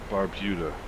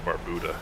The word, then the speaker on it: Barbuda: hitting that but okay Barbuda is pronounced as Antiga bayuda Barbuda ah Barbuda okay Barbuda that does sound more eloquent than baruda you guys are in